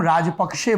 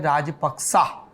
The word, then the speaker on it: Rajapaksa: पाली के करीब है, और जिसे हम राजपक्षे बोलते हैं उसका सही उच्चारण है राजपक्सा।